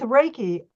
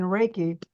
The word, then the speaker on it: Reiki: energy they're all the same words so with raiki Reiki is spelled REI Ki REI means Universal that means